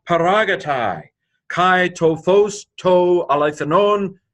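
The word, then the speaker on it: ἀληθινὸν: This is alethanon, alpha lambda eta theta iota nu omicron nu, alethanon.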